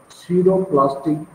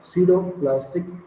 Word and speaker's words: pseudoplastic: they are called as pseudo plastic their p is silent so we will write